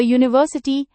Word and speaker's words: university: We also say a university and a union. Even though these words start with the letter U, they actually begin with a U sound, which is a consonant sound.